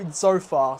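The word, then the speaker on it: Tzofar: Zofar. So, it's it's spelled T Z O F A R.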